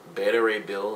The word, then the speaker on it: Beta Ray Bill: is Captain America's kind of worthy um a beta ray bill is how you pronounce his name I knew he'd done it